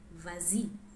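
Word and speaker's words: vas-y: by or or Y the S is not dropped to make it easier in pronunciation so we have something like vazi which means go on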